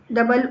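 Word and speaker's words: dough: तो यहां पर आ गया थ्रू, डबल ओ का साउंड आ रहा है थ्रू में। यहां पर कॉफ में ऑफ का साउंड आ रहा है। डो में ओ का साउंड आता है, जबकि प्लो में प्लाउ का साउंड आता है।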